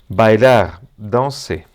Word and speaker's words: danser: Non daner. La la e del del final verbo non se prononcia et la r de daner dedans non se prononcia et sinon non se prononcia r sinon e.